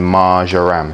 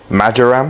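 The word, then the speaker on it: marjoram: Thyme, parsley, and margaram. If you say it correctly, majaram. Margarm. Because margarine. Anyway, we get some mixed herbs in there.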